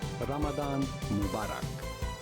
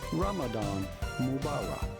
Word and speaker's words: Ramadan Mubarak: or blessed Ramadan in Arabic this would be pronounced something like Ramadan Mubarak Ramadan Ramadan but in English it is generally said Ramadan Mubarak he really put like the the the American